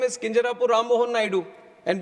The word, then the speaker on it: Kinjarapu: Copernicus later hey and my name is Kinjarapu Rammohan Naidu and when some people say Kinjarapu there might be some problem with them they can't pronounce it the way I pronounce it but that